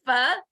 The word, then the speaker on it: Pho: He had a big bowl of, am I pronouncing this right? Pho?